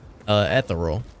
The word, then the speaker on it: ethereal: It is ethereal.